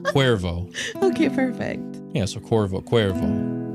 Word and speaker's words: Cuervo: I can pronounce any Spanish words right now. Cuervo. Okay, perfect. Yeah, so Cuervo.